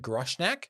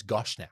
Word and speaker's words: Goshnack: In fact, I think I said Gushnack. Yeah. Looking at it now, it's Goshnack.